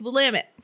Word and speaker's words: Willamette: so not will lamin no there's only one l it's willamette jesus i feel like i